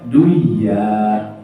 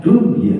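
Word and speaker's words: دنيا: bahasa al-qur'an addunya itu non mati bertemu I non mati Nti bertemu ya bacaannya apa idgham bighunah ya idgham bighunah Mestinya kan bacanya duya ya Tapi bacanya Dunya ya Ini dari segi ee bacaan al-qur'an maka sekalipun idgam bunah tetap dibacanya izhar dari segi kaidah bahasa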